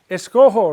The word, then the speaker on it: escojo: Because a G in front of an O would be the hard G sound, like go. We want it to sound like ho, right? So therefore we have to change the G to J because the infinitives, escoger, recoger, etc., are all the soft G, so we need to maintain the soft G sound. That's why we insert a J.